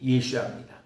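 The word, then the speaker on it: ישוע: 그 예슈아라는 것이 예수님의 그 히브리어 어 발음이 예슈아입니다.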